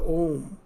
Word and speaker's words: Om: When you are pronouncing A, the tongue is not touching any part of your mouth. It is generated in the vocal cord. And when you pronounce U, A, U, Ma, these three constitutes the Om.